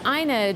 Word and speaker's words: Ina: linked to all this it's it's aina drew is the way she pronounces it and she's basically the